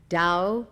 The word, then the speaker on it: Tao: concepts of the book Dao meaning way it is spelled T a o dur meaning virtue or